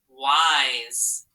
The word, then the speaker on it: wise: all right but that between the two vowels that s sounds like z in there sometimes though it can